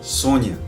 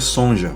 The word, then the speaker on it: Sonja: Ela diz assim, eh, quando eu falo sonja, ela diz assim: "Olha, pronuncia-se Sônia".